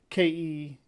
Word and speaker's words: Celtic: denotes that it should have a hard K sound. So Keltic, Celtic. But if they want to say Celtic, I guess that's what how their robot voice translated.